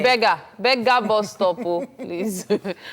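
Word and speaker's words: Bariga: As soon as you got to Beja, the traffic... Oh, by the way, don't say Beja on the bus, so Is it? you'll pass your bus stop. But that's Bega.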